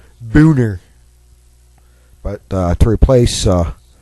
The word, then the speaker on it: Boehner: uh replace Speaker John boner I know he pronounces it Boehner I speak German John your last name is pronounced Boer but uh to replace